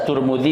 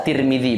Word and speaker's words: Tirmidzi: riwayatkan oleh Al Imam turmudzi bisa turmudzi bisa Tirmidzi bacanya dan diriwayatkan oleh Al